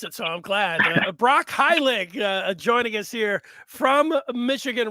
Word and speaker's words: Heilig: pronounce your name yeah it's pronounced high leg so high like h-i-g-h and then leg like it rhymes with pig well uh that's not